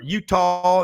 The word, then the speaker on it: Eutaw: But Frank, what I love about Gary is he'll be out in Pickens County or Reform or Utah. That's EUTAW, not UTAH.